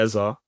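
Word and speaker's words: Eze: Um, and I guess the best place to start is with Eberretti Eza. That's how he pronounces his name.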